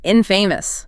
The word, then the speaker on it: infamous: And the video notes the pronunciation infamous stress on the first syllable.